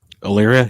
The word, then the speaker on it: Elyria: Did I pronounce that correctly? Illyria? Yes.